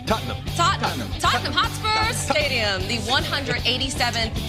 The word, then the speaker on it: Tottenham: Just remember, it's one syllable. Tottenham.